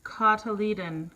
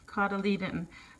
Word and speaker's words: cotyledon: in the indoor greenhouse I checked the pronunciation and it's cotyledon cotyledon by the seedling leaves